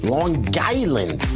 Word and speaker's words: Long Island: Port Jefferson Long Island Long Island got to pronounce the G too so good to have